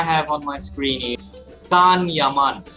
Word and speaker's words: Can Yaman: All right, so the first first name I have on my screen is Kan Yaman. Can Yeman. No. Okay. I'm Now, right Ozge, please It is correct us. Can Yaman.